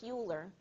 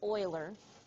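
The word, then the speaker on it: Euler: so it looks like uler but the guy's name is actually pronounced Oiler and so this is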